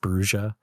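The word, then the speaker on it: Brujah: Isn't it Bruja? Did you guys see that? No. World of Darkness. They're fucking wrong. Officially released the thing saying that it's pronounced Bruja.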